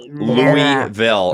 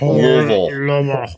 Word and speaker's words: Louisville: It's Louisville. It's not Louisville. It's Louisville.